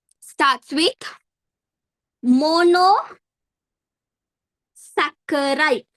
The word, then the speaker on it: saccharide: name starts with mono saccharide. Some people they say saturide. Wrong. Pronounce it properly. Saccharide. Double C.